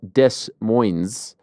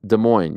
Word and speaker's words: Des Moines: And for my international friends, it's not Des Moines, it's Des Moines. You don't really pronounce the S's.